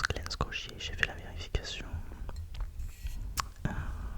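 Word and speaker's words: Glen Scotia: Il s'agit d'un d'un Glen Scier, c'est comme ça que ça se prononce Glen Scier, j'ai fait la vérification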